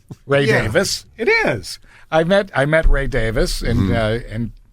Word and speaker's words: Davies: I'm going to apologize to the Summit's resident ghost, Jim Chenot, who argued with me that it is pronounced Davis. Ray Davis.